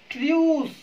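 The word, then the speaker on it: truce: Mute, mute यानी कि silent कर देना आवाज को, उसको बोलते हैं म्यूट। म्यूल, ट्रियूस, ट्रियूस, ट्रियूस का मतलब होता है दोस्तों युद्ध विराम संधि को हम ट्रियूस बोलते हैं।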